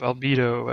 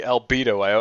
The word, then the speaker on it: Albedo: I see albedo, I just automatically think libido. That's Oh, come on. For some reason, everyone that doesn't know the character always pronounces it like bed, not bedo.